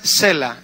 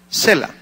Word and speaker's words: Sela: Pero la palabra es Sela, como si acentuaras la E, no la A. Sela.